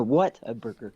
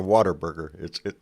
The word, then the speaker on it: Whataburger: No, what a burger. What a burger. It's not a water burger.